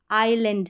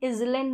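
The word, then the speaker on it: island: एस का combination आई आइलैंड है जैसे यहां यह जो एस है यह साइलेंट है इसलिए आई का ही उच्चारण आई करके हो रहा है हम इलेंड नहीं पढ़ते हम आइलैंड प्रोनाउंस करते हैं तो आई एस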